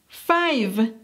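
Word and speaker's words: five: Aquí asegúrate de enfatizar la V. En español no hacemos mayor diferencia entre la B y la V. Pero en inglés sí, tienes que marcar la diferencia. La V en inglés suena así. V. V. Tienes que hacer que el sonido vibre.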